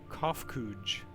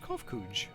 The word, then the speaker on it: Kofkuj: As for nomenclature to address my individual person, I believe it would be pronounced Kofkuj. Yes, Kofkuj of the Ia.